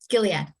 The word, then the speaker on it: Gilead: So just like you are in your job, but let's just say that Gilead, Gilead or Gilead? Gilead. Yeah. Oh, Gilead. Okay. Hard G.